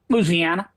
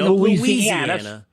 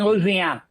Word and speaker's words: Louisiana: A little Louisiana pronunciation. Say the name of your state, please. Louisiana. I don't say Louisiana. Some people do, and I don't correct them. This is America, but I say Louisiana.